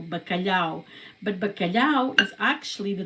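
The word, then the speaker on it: bacalhau: And I have so much more to say about bakalao. So like I said, balao is spelled with b a c a l h au. Bakalao, but bakalao is actually the translation in English is cod is codfish.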